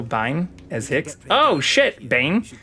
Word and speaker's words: Biehn: Oh shit, Bane. I think it's actually pronounced Bane.